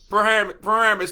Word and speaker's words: Paramus: How do you pronounce it there, special guest? Paramus.